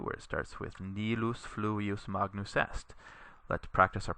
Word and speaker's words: fluvius: So nilus fluvius, notice that you put the accent on the u here, fluvius, because the I here is short. There's no macron over it, and it's not a diphthong.